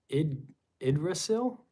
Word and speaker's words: Yggdrasil: It is pronounced Yggdrasil.